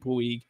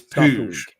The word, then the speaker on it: Puig: on this one um not at all how you think it's pronounced it's po that makes more sense actually though yeah it's the that's how that's how that's pronounced in Spanish and I only found